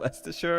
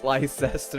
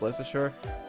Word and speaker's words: Leicester: r are just completely silent so it's actually lesture and not not leester or whatever you call it it's not that it's actually pronounced less sure even though the letters are right there and